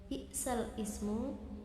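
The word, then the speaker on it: بئس الاسم: ba'dal iman wam yatub Ada lafaz bal ismu itu cara membacanya itu balismu.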